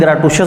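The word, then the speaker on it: gratuitous: American, British और पाकिस्तानी तीनों pronunciation इसकी फ़र्क है। कहीं ग्रेटुशियस बोलते हैं, कहीं ग्रेटिशियस बोलते हैं, और पंजाबी में तो जो मर्ज़ी बोल लें।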